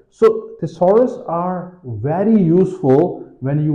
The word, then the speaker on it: thesaurus: all right then comes thesaurus it has three syllables thesaurus is a sort of